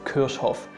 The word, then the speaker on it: Kirchhoff: Next up is Gustav Robert Kirchhoff, and even German people get his name wrong because some like to call him Kirchhoff, and this is not correct because he has two F's at the end of his last name, and well, you have to pronounce this with a short F in the end.